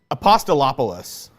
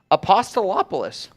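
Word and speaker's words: Apostolopoulos: that hard it's once I read it it's apostolopolis apostolopolis that's gonna be the key word today Steve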